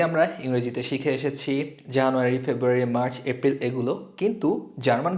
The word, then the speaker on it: Februar: এটাকে ডয়েচে বলে ফেব্রুয়া।